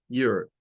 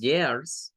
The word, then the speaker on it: your: Entonces, eso lo vamos a pronunciar como your, your. Esa vendría siendo, pues, sorry, la parte de la pronunciación para años. Your. No es years, no es years, sino es your.